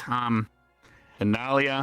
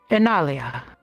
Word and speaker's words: Inalia: I believe it's Analia. I can't pronounce Elven quite well. I apologize. If there's someone that's more fluent that could pronounce it, I'd appreciate that. Oh, great. Silver, I can trust you for this, Greg. Library? You can pronounce the name of the the village outside of Hosland will be helping with. Oh, forgive me. Inalia. Thank you for that.